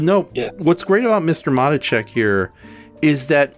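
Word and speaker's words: Matuschek: Matacek is what you're trying to say? Thank you. Matacek. Hugo Mushy Face. Okay, Matacek. They say it like 50 billion times. I know, but the silent S got me, okay?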